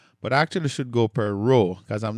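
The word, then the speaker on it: π: And then pi or P, that's fine. Just Just let's Let's just say P um for you math professionals out there, you probably know the pi, but let's say P P.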